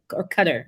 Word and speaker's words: Qatar: I never heard of Qatar till tonight, so I just had Qatar. It's Qatar, not Qatar. Well, they're both pronunciations. We say Qatar here. They say Qatar there, but that's where the Olympics was just there, right?